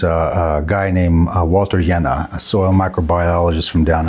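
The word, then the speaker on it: Jehne: a guy named Walter yenna a soil microbiologist from Down Under uh his last name is spelled j e h n e and I suggest everyone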